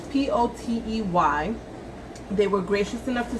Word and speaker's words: Potey: It can be Potey, Potty, Potey, but it's Potey.